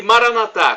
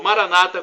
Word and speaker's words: Maranatá: E Maranatá, como dizemos nós católicos, ou Maranata, como dizem nossos irmãos separados, os evangélicos ou protestantes. Não importa a pronúncia, o significado é o mesmo.